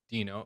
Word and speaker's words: Deno: uh so it's pronounced dino or i i pronounce it deno but it's pronounced dino i'm trying to correct